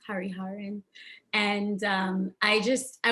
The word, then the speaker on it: Hariharan: my last thing is a little hard to pronounce hariharan and um i just i want to first